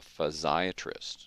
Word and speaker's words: physiatrist: They're called a physiatrist, which sounds like and is spelled like psychiatrist, but it's a rehab doctor.